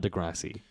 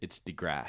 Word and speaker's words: deGrasse: It's deGrasse. It's like whenever you're getting on your knees and you're in- mowing deGrasse. in the lawn.